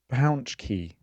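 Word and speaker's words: pączki: Pounch key. There you go. That's how it's pronounced.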